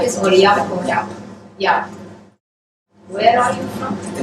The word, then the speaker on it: Jaap: Jaap. Where are you from? The Netherlands originally. Netherlands, okay. But he's representing Middlesex for us, Middlesex University, so welcome to Cairo University. And Professor Jaap will be talking about introduction to theorem proving with COC.